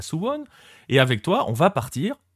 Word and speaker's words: Suwon: pour visiter sone d'ailleurs je sais pas si je le prononce bien il va me le dire dans un instant parce que qui dit Corée du Sud dit bien évidemment Baptiste mourgal salut Baptiste salut Nico et oui tu le prononces bien s c'est c'est bien